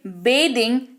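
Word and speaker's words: bathing: बेदिंग, नहा रहा है। उच्चारण change, बाथ, बाथड, बाथड, बेदिंग।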